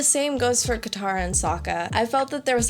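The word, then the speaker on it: Sokka: besides the cheesiest lines my name's Saka rhymes with AA and waka waka for the most part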